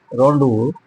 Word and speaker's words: rendezvous: rendezvous होता है fixed meeting place, rendezvous। This is the pronunciation of the word given in the bracket, rendezvous।